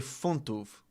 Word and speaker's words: funtów: So pounds are, you'd say funtów.